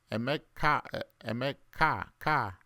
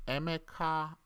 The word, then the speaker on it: Emeka: Some of you don't know how to pronounce my last name. Some say Emeka, or some say Emeka, Ka. It's not Ka. It's like a rising tone. Emeka.